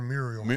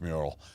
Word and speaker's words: mural: first one M or murial I I say it wrong murial it's mural uh but uh I I